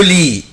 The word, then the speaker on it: lit: le lit, le lit, le lit, lit سرير. je ne prononce pas la lettre T.